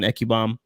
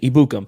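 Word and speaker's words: Ebukam: keep forgetting about him samson eccubomb ekibon i think i say it right um excuse me ibukum that's how you say it um so you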